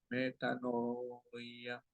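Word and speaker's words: μετάνοια: el chat Cómo suena nada más la fonética metanoia es una palabra griega que se pronuncia a matano metanoia metanoya metanoia de ahí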